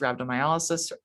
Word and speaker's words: rhabdomyolysis: for toxicity and side effects and that includes rhabdomyolysis rhabdomyolysis another alternate pronunciation and rhabdomyolysis is just muscle breakdown pain